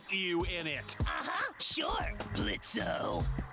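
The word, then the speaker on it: Blitzø: in it uh-huh sure blitzo the O is silent now and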